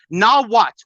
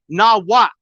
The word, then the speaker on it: Nahuatl: Nahuatl with no LT at the end. Nahuatl.